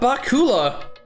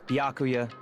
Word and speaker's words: Byakuya: all so annoying ah Bakula the hell is Bakula it's bakuya he she mispronounced it I'm sorry I I